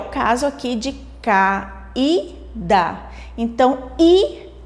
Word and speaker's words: caída: Se nós falarmos pausadamente caída, vamos perceber qual é a sílaba que sai mais forte? Caída. Vocês podem perceber que o i ela sai um pouco mais forte da nossa boca.